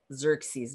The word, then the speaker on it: Xerxes: he's called sexes which in english is pronounced xerxes because english can't pronounce greek like the greeks do so we're talking about